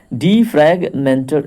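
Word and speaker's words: defragmenter: यहाँ पे देखिए उच्चारण में कितना मिस्टेक हो रहा था। डीफ्रैगमेंटर एक्चुअली इसका नाम है, डिस्क डीफ्रैगमेंटर।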